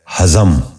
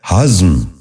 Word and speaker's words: ہضم: غور سے سنیے، ہدایت۔ آٹھواں لفظ ہے ہضم۔ یہ غلط تلفظ ہے، درست تلفظ ہے ہضم۔ دوبارہ سنیے، ہضم۔ بچوں